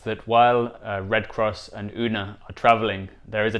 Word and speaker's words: Una: cross and una i i might mispronounce this yoona throughout the video but it should be una who represents truth and